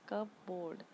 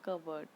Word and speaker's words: cupboard: कबर्ड जो है, कबर्ड में जो पी होता है वो साइलेंट होता है, वरना आप इसको अगर अलग अलग करके पढ़ेंगे तो ये होता है कब बोर्ड, लेकिन क्या होता है पी इसमें साइलेंट होता है, तो हम इसे बोलते हैं कबर्ड।